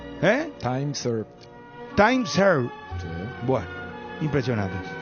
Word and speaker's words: time served: ¿Cómo se pronuncia esto, Dani? Time served. ¿Eh? Time served.